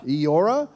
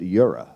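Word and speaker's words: Eora: guys even know what aora well it's spelled aora but I was told it was you say it Yura really she's [ __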